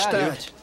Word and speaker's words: Gstaad: Stad. O G é mudo. Stad.